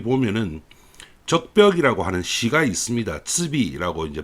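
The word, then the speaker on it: 赤壁: 츠비라고 이제 발음을 하는데 적벽이라고 하는 시가 있습니다.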